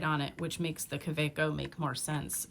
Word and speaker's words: Kaweco: It's Kaweco. And I did not pay attention to the fact that it's German.